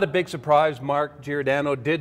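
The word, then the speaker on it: Giordano: weekend Grant and not a big surprise Mark girano did not win best acting for his commercial say his name again what did I call him it has now been changed to jordano oh okay this is just recently this past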